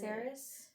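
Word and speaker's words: Saeris: Saris? Yeah, that's how you say it, but that's not how I was saying it.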